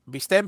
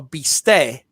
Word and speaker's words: bistec: Leela's had my favorite meal at Leela's was a Bistec empanizado?